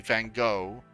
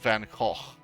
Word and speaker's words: van Gogh: like a lot of people saying van gogh but that's not how you pronounce it it's called van gaal like it's with the